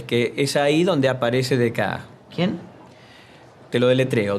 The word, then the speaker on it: Descartes: es ahí donde aparece dec quién te lo deletreo d e c a r t e s se pronuncia dek de francés abundancia de letras y es el primer